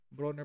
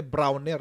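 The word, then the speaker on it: Brawner: pala ang ano non bronner pala ang pronunciation lagi kong lagi kong sinasabi browner eh browner broner pala Sosyal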